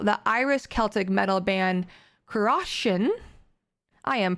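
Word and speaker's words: Cruachan: the morrigan's call the iris celtic metal band karoshin i am pronouncing that incorrectly it's c r u a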